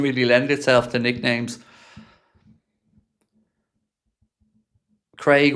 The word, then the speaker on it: Craig: Craig rhymes with the Hague.